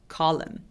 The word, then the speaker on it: column: 저거는 어떻게 발음해요? column이 아니라 column 이렇게 소리 내주세요. column.